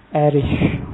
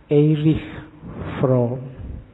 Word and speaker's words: Erich Fromm: Membacanya, kalau bahasa aslinya karena lahir di Jerman, orang Jerman membacanya Erich Fromm. Tapi nanti dia saat sukses hidupnya di Amerika. Orang Amerika membacanya lebih suka pakai Eric. Jadi belakangnya K. Makanya kita membacanya santai aja. Tidak harus kaku, harus Erich, nanti lidahmu melengker. Biasa aja dibaca Erich Fromm.